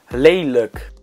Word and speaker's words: lelijk: prys, But Dutch words ending with lijk, pronounced as lik, are spelled lik in Afrikaans. And that's a more accurate reflection of the real pronunciation. Lelijk.